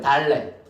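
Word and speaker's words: דלת: 달렛. 달렛은 발음이 뭘까?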